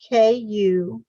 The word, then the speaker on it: Kumara: And the second word is Kumara, K-U-M-A-R-A, Kumara. The Kumaras are spoken of